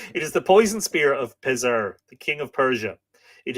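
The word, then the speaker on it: Pisear: is the poison Spear of pessir p-i-s-e-a or pissier apologies apparently it's pronounced taser so I won't say pissier again I just did it is the poison Spear of Pizer the King of Persia it is irresistible in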